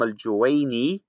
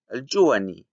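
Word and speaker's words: الجويني: He calls Imam al-Juwayni al-Juwani.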